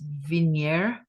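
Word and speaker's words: Vigenère: and and fun this is it pronounced veneer Cipher yes if the media it's a French word I guess and for those of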